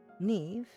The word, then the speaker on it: Neve: the along Discord like looking up the pronunciation of his name baffle the was like okay it can't be that weird looks up oh that's pronounced neve good to know for